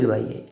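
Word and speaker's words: ρ: formula আরক রবা এটা একটা Greek চিহ্ন ঠিক আছে গ্রিকের গ্রিকদের 18 নম্বর সিম্বল বলে এটা হল রো উচ্চারণটা রো আর এর মত রেজিস্টেন্স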